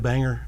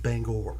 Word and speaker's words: Bangor: flew from dc to banger um and hung out in maine i'm sorry it's pronounced bangor yeah bangalore banger is